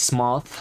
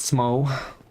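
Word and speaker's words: Smough: goth and not go the same for smo is smoth not smoke must be a giant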